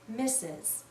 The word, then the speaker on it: Mrs: the word mistress but we almost always read this as misses mrs is another title